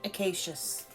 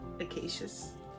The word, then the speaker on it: Acacius: Okay, first of all, I have to pause and figure out how to pronounce this person's name. Okay, I got it. Saint Acacius.